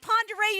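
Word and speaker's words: Pend Oreille: first name or your last name uh lake ponderay oh like ponderay you're correct it is and you said it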